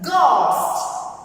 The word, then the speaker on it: ghost: When these letters comes at the beginning of a word, here you can see the word ghost. So the letters G and H comes at the beginning. We pronounce this G and H as G, ghost.